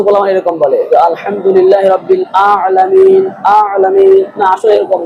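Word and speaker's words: العالمين: এরকম বলে আলহামদুলিল্লাহ আলামিন আলামিন আসলে এরকম না হল আলামিন এজন্য আমাদের এখানে আইনকে আইন উচ্চারণ করতে হবে আলহামদুলিল্লাহি রাব্বিল আলামিন আর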